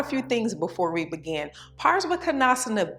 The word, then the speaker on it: Parivrtta Parsvakonasana: It's pronounced Parivrtta Parsvakonasana, and it has 5 vinyasas, and the Drishti is the fingers, Hastagrai, Drishti. Now let's talk about a few things before we begin. Pars-vah-ko-NAHS-anna B is a very challenging asana, okay?